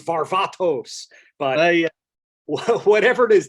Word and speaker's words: Varvatos: Yeah, I'm sure the Greek ancestors are pissed that it's called Varvatos. It's Varvatos.